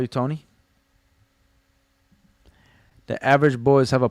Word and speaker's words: Toni: Tony spelled with an I is the feminine. Spelled with a Y is masculine. It's still pronounced Tony.